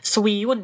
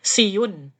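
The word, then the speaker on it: 쉬운: E saya ngerti ya kalau di sini tulisannya kan Swi gitu ya tapi eh saya gak pernah sih dengar orang-or banyak Swi kayak gitu enggak pernah swiun gitu ya atau spko gitu dengarku sih siun sipko gitu aja ya bacanya Makanya kalau orang Korea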